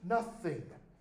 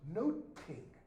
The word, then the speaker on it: nothing: This word in Shakespeare's day wasn't pronounced nothing. It was noting. Not, but. Okay? King is a thing of noting.